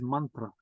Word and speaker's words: mantra: So mantra Sometimes it's called mantra, but the proper pronunciation is mantra.